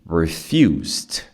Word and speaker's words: refused: E aí o som de D. Refused. Refused. Refus to surrender. Como você tem que encaixar depois o to, ele fica refused to. Refused to. Então você tira o refused e já entra no to.